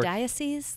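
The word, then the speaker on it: diocesan: go dio season i i think i had trouble pronouncing it before diocese yeah yeah exactly d-i-o-c-e-s-a-n that's the best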